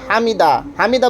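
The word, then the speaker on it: حمده: এরপরে সামি আল্লাহু লিমান হামিদা, রুকু থেকে ওঠার সময় তে সামি আল্লাহু লিমান হামিদা, হামিদা বললে হবে না, হামিদাহ হা উচ্চারণ করতে হবে।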